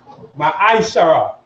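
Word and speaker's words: ma'aser: It means tenth in Hebrew, and is pronounced Ma'aishara.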